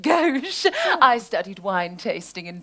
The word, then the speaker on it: gauche: That was very gauche of you. Gauche. I'm sorry. It was very gauche of me. It's actually pronounced gauche.